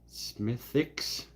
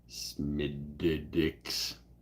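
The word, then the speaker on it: Smithwick's: beer producer in Ireland the W is not pronounced don't tell me what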